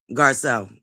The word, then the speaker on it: Garcelle: They lived here, and then Giselle went to New York from Marlin. Because I'm saying it right. Garcelle. I said it wrong.